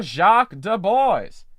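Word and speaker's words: Jaques de Boys: faith my fancy to thee doth combine enter jacques du bois now that's how that name should be pronounced let me have audience for a word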